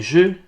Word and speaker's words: jeux: feux reçoivent donc tous un X qu'on ne prononce pas et ça devient des jeux des neveux et des